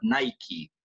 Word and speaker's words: Nike: you know so actually but remember the correct pronunciation of this one is luck just like but Nike all right very good now did you know